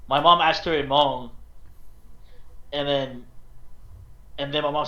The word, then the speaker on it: Hmong: so like I'm half Hmong, half Vietnamese. How to spell Hmong is Hmong. It's the H and G is silent.